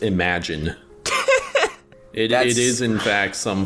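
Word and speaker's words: Imogen: Her name is pronounced Imagine.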